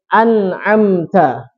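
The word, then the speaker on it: أنعمت: Baik, an'amta. Nah, jadi nunnya ini terbacanya jelas, an. An, bukan al.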